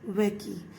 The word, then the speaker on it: Mbeki: Thabo Mbeki. M is silent here.